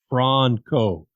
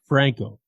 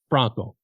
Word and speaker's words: Franco: It's Franco, not Franco, Franco. Write it down, FRAHN-CO, if you want to try to do some kind of pronunciation on it.